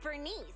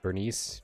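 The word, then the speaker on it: Burnice: video for for Bernest Bernice. Burn. It's I I think it's Bernice, like a short I rather than Bernice.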